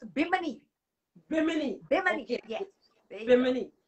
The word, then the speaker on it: Bimini: Am I pronouncing that correct? It's Bimini.